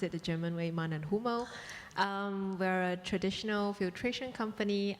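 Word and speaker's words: Mann+Hummel: I'm from Man and Hummel, or if you pronounce it the German way, Man and Hummel.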